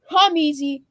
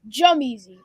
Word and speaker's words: Jemezzy: It's not Jummeasy, not Humeasy. It's Jummeasy. Baby.